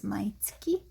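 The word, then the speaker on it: 毎月: every week every month isn't my getsu but actually my tsuki that's the correct way of saying every month is maitki and every year could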